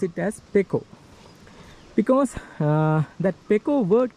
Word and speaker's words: pekoe: k o e in some sources say it's poo including some very wellknown dictionaries but most of the people in the tea industry they they pronounce it as PCO because uh that PCO word comes from b